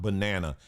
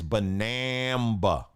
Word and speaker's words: banaba: I was saying the banana leaf tea. No, it's not banana. It's banaba.